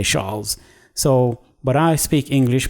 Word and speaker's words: Charles: Those people in France like to pronounce CH as SH. So rather than saying Charles, they say Charles.